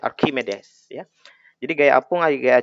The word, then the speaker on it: Archimedes: Ya, bacanya Archimedes.